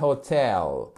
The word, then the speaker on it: hotel: à l'hôtel at the hotel et Hotel voyez ce que j'ai fait j'ai bien accentué sur la seconde syllabe chers amis h ex